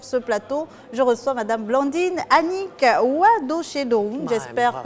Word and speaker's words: Blandine Anique: avec moi sur ce plateau je ressors madame blandine annick away de chez nous j'espère que j'ai bien pensé bravo pour avoir bien prononcé mon nom c'est merci d'avoir accepté notre